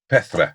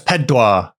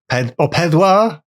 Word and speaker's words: Pedwar: What's 4 in Welsh? I can't remember. Pethra? Yeah, I think so. Pethra. It's Pedwar. It's Pedwar. Pedwar?